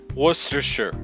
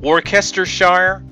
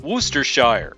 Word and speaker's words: Worcestershire: Shire what's dis here Worcestershire one users suggest it's that cest in the middle that mrs. people up if you break it up like worst or sure the pronunciation makes sense others suggest similar bridge